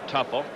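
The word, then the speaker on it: Teufel: young second baseman Tim Tuffle tue fel they pronounce it tupple you'll be playing until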